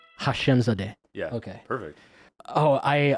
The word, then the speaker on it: Hashemzadeh: Hashemzadeh. Hashemzadeh.